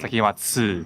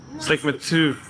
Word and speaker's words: Seikima-II: so in Japanese, yeah, the Japanese method of pronouncing numbers 1, 2, 3. So they call it Seikima-II because that's where the pun in their name comes from.